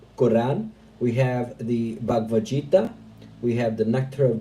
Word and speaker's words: Gita: Gita, like gift. Gita, thank you so much.